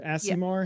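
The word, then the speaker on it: Aasimar: And um and Jess, can you explain what the Asimar is or asimar? How you pronounce that?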